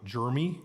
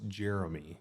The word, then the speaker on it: Jeremy: when people call me jery okay well I have two e in my name so it's actually pronounced Jeremy but Jeremy is fun